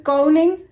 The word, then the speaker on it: koning: Koningsdag en over de koning en de koningin. Nederland heeft een koning en een koningin. De koning en de koningin. Let op de uitspraak. De N en de G samen maken de klank.